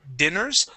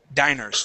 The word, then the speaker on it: diners: become empty of diners instead of dinners diners try that diners okay remember diners okay Diner and diners has one n dinner has two ends okay so there's the there's the difference dinner with a short eye two ends diner with a long eye so let me